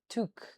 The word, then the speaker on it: toque: Tuk, because it's French. It's a French word for hats. French Canadian in origin.